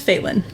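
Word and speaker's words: Failyn: do this anymore I'm sorry her name is Phelan Phelan failing spell that f-a-i-l-y-n that's such a problem I was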